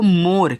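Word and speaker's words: more: आपका है even M ओ आर ई देखो मोर क्या इसका उच्चारण हो रहा है नहीं हो रहा है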